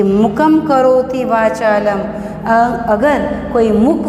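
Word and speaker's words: मूकम्: यहाँ पर प्रोनाउंसिएशन होगा मुकम, मुकम। यहाँ पर अनुस्वार है इसलिए मुकम ऐसा है।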